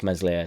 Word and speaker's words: Meslier: is done now no nobody likes mesli silent S at the moment but